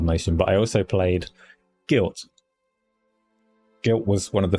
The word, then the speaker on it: GYLT: And Guilt not spelled like that, Tony.